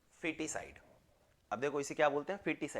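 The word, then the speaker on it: foeticide: Foetus, FOETUS, फिटिसाइड में FOE होता है, ये थोड़ा सा यहाँ पे कंफ्यूजन होता है, फिटिसाइड, और प्रोनाउंसिएशन इसका क्या होता है? फिटिसाइड।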